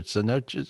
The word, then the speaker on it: cenote: this up to notech how do you say it cenotus or cenotes what do you call them oh that's pretty close yeah cenote okay and so these are